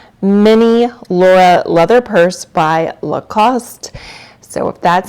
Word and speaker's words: Lacoste: It's often pronounced Lacoste here in the United States. However, in France, it is pronounced Lacoste, and it is just the most preppy, I feel like sophisticated, classy, chic brand.